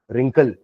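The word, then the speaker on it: wrinkle: रिंकल होता है ना यह मत सोच कि रिंकल का मीनिंग भी आर से है डब्लू साइलेंट है ना रिंकल राइट तो रिंकल का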